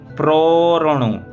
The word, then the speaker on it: प्रोरणु: फिर प्रोरणु, अब यहाँ देखिए प्रो बोलेंगे, इसके बाद आधा णा और रा, यानी प्रो के बाद रा और आधा णा एक साथ उच्चारण, फिर णु बाद में बोलेंगे।